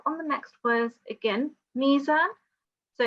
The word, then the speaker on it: ميزان: That's the ya madda. So it will be Allah tatghaw fil mizan. 2 seconds there, and then we have on the next words again mizan.